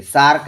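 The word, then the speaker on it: SAARC: पहले क्या उसे करेंगे प्रत्येक अक्षर का उच्चारण सम्मिलित रूप से होता हो तो उसके पहले दा लगाते हैं सम्मिलित देखिए सार्क है ये सार्क का सम्मिलित रूप से जो है की क्या उसे किया हुआ है सम्मिलित रूप से इसका उच्चारण भी हो रहा है तो इसके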